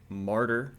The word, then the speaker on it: Martyr: which I think technically, to pronounce the title correctly, I should be shouting it, but I don't feel like shouting on the podcast episode, so imagine me shouting the word martyr.